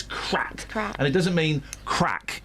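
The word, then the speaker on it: craic: am I yeah C so it's spelled c but it's crack and it doesn't mean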